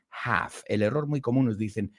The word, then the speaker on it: half: what we have to do is we don't pronounce the L in half teenage m n Turles Teenage Mutant Ninja Turtles